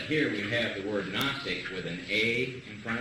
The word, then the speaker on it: Gnostic: s t i c the g is silent obviously that again g n